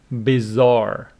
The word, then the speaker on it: bizarre: Bizarre, with the stress on the second syllable, which means strange.